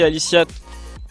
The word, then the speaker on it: Aliciat: Merci Aliciat. Il faut prononcer le T dans Aliciat.